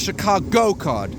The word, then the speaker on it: Chicago Card: It was called the Chicago card, pronounced with the emphasis on the go in the middle.